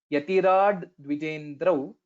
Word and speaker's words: यतिराड्विजेन्द्रौ: यतिराड्विजेन्द्रौ So one point to note in this pronunciation, it is a bit special word. Yatirad dvijendra. So when we tell it fast, we may not hear this dvi. Yatirad dvi. We may skip this particular dakara.